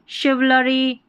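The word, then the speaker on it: chivalry: Chiffon हो गया, chauffeur, ठीक है, शोफर के बाद में यहाँ पर देखें शिवलरी, ठीक है, क्लिंच, क्लिंच, ठीक है, ये देखें गॉश, ये है मशीन, मशीन की स्पेलिंग काम आती है।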